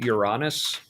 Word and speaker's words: Uranus: I That's why I see that's why I prefer the pronunciation Uranus because it doesn't sound like urine or anus.